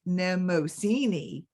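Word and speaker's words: Mnemosyne: visit to Femme headquarters nemosini pronounced nemosini glanced about and saw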